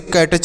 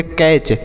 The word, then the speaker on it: catch: देखिए सी से क, ए से आई की मात्रा, टी का उच्चारण यहाँ पर नहीं किया जाएगा, सी से च पढ़ेंगे, तो उसे पढ़ेंगे कैच, CATCH, कैच पढ़ेंगे।